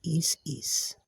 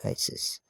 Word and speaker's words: Isis: It's actually Isis. That's the real pronunciation. Isis. Not Isis.